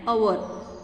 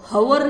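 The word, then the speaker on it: hour: क्या बोलना है? एन अवर. हवर नहीं बोलना है इसको. ह का उच्चार नहीं आएगा यहाँ पर. एच साइलेंट है, ओ का उच्चार आता है.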